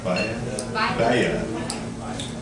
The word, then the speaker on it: Baila: ahead and did this next number, and I'm gonna let you pronounce it, since I can't pronounce it. Okay, so it's Bahia? Bahia.